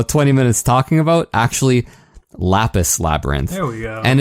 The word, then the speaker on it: Lapis x Labyrinth: say on the website you don't pronounce the X it's just lapis labyrinth okay so anyhow yeah